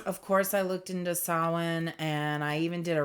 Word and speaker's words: Samhain: Okay, I'm getting Sam Samhine. I don't want to say it wrong and offend anyone. Um, let me see. There we go. Sawin. Sawin. Okay. So, I was very wrong.